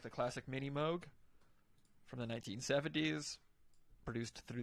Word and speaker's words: Moog: So basically, if you know synthesizers, you probably heard the name Moog or Moog. Yeah. Correct pronunciation Moog, but yeah, give us some information here.